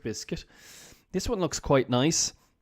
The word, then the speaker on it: Nice: to nice biscuits okay the proper pronunciation I found out from this article is nice biscuits like the city in the south of France but you can't say